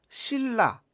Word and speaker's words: 신라: 우리가 신라. 자, 받침이 뭐죠? 받침이 니은이고 뒤에 리을이 왔습니다. 그럼 우리가 조음 방법상 니은은 비음에 해당하고요. 리을은 유음이죠. 그런데 발음을 하게 되면 니은이 리을로 교체돼서 신라 이렇게 발음을 하게 되죠.